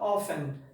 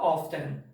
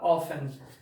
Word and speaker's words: often: Perceba que o T ele é mudo, se fala often, não fala often, fala often.